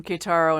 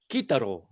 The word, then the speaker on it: Kitaro: down the road from kataro in colorado yeah we met him remember vic we at the one big party some stone hippie party up here in northern california it's actually pronounced kitaro yeah and then we've